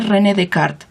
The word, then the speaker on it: René Descartes: llama el plano cartesiano por rené descartes porque así se escribe en español pero se dice rené de cart entonces la geometría analítica